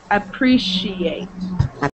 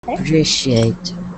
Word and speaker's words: appreciate: That C-I sound in the middle of those words, it sounds like a sh. Ancient. Ancient. Ancient. What was the other word? Appreciate. Appreciate.